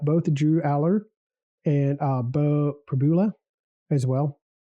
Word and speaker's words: Pribula: So we're going to be looking at both Drew Aller and Bo Pribula as well Pribula. to get to know them here. So I believe it rhymes with a lot of us know about Drew Aller already.